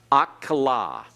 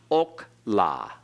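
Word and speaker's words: אָכְלָה: out in Hebrew here we have akola notice it's not OK la it's la the meth egg tells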